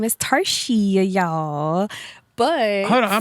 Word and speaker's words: Tarshia: So it's Tarshia.